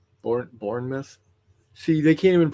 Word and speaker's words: Bournemouth: heard of like britford britford yeah uh ber burnmouth Bournemouth bour Bournemouth see they can't even pronounce it right I only know it because